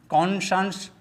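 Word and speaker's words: conscience: तो पहला शब्द है SCIENCE जिसका उच्चारण शंस होता है। You repeat after me. कॉन्शंस, कॉन्शंस, प्रीशंस, प्रीशंस, ऑमनिशंस, ऑमनिशंस।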